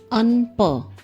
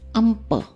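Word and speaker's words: un pain: Attention, here we don't pronounce un pa. It is um pa with ma sound.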